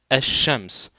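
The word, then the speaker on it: الشمس: simplicité asams en effet ce Lam là il ne se prononce pas pourquoi il ne se prononce pas et bien tout simplement parce que après lui après salam vient une lettre qui est solaire qui est tout simplement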